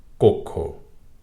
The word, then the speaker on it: কক্ষ: একইভাবে পক্ষ ভক্ষণ কক্ষ কখনো যেন শব্দটির উচ্চারণ কক্ষ না হয় কক্ষ আর দটি ওকারের মত উচ্চারিত হবে কক্ষ মসরিন অথবা মসরিন দুটি